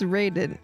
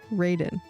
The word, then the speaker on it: Raiden: It's not pronounced Raiden. It's pronounced Raiden.